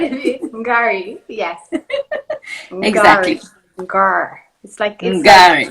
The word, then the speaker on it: Ngari: Welcome, Ngari. Hello. Is that the right pronunciation, by the way? Ngari. Did you say Ngari? Ngari, I said.